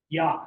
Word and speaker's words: ja: Johann Faustin, and note that the J does different things in German from what it does in Spanish and English. The H sound, Don Quixote. In Spanish, it makes a Y sound. Ja is the way to say yes in German. Ja oder nein, yes or no. So ja.